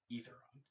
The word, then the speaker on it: Etheron: Etheron is how you pronounce it.